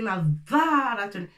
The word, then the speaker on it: نظارة: Alors on va trouver des mots comme Nadharatun. نظارة نون avec ضاد فتحة ولكن c'est pas نظا c'est نظارة c'est bien on appuie sur la lettre alors شدة نظارة راء وتاء مربوطة نظارة.